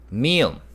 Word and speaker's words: 미음: 미음. This represents the M sound. 미음, m.